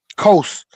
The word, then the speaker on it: Qos: And we see the Canaanites arriving in that region around the same time with that God that I brought out, QOS, which is pronounced Coast.